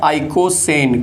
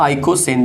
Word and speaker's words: icosane: 42, जिसका नाम होता है आइकोसेन। क्या नाम होता है? आइकोसेन। देख लीजिए, आइकोसेन इसका नाम हो जाएगा। क्लियर है?